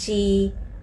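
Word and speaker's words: 西: ต่อ ไป นะ คะ ตัว X ออก เสียง She จะ เป็น เสียง บวก เฉอะ นิด นึง นะ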